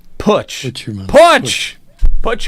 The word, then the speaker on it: Putsch: Test me. Yes. Test me. Is that you? Am I saying that correct? I pronounce it Putsch, like put your money where your mouth is. Putsch.